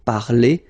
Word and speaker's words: parler: The funny thing is that phonetically they are the same. So infinitive parler. So if you remember, we saw that previously. So I mean, this combination of two letters at the end of the words normally gives the sound e.